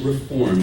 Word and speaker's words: Reform: There's no ED on the end of that. It's actually Reform Judaism.